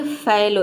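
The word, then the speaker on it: fallow: अगला यहाँ पे देखिए फैलो, यहाँ पे ए को आई प्रोनाउंस करते हैं, यहाँ पे ओ नहीं प्रोनाउंस करते हैं, आई होता है, तभी इसका प्रोनाउंसिएशन होता है फैलो।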